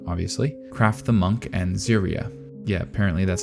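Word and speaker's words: Serie: the show furin obviously craft the Monk and ziria yeah apparently that's how you pronounce Siri and yes I did not know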